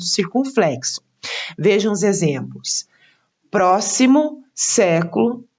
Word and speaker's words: século: Vejam os exemplos: próximo, século e época. Então, próximo está acentuada a antepenúltima sílaba, pró. Século, antepenúltima sílaba, sé.